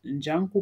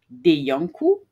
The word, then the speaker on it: Njanku: Ça se prononce Njanku par Deyanku pour les personnes qui ne sont pas d'origine africaine et qui auraient du mal à la prononciation. C'est Njanku, s'il vous plaît.